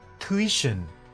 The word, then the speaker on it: tuition: 3 2 2 one it's not CH but it's t tuition tuition in British and tuition in American so it's not CH